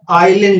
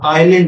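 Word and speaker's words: Iselin: this is known as Island disease Island disease ISC l i n s is silent now what is the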